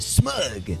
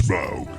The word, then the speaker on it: Smaug: And I call this one a smug. Rhymes with grug. It's Smaug.